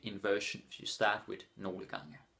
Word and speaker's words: nogle gange: Nogle gange. Danish people are too lazy to pronounce it properly. So they're just like, nogle gange. But officially you're supposed to pronounce it nogle gange.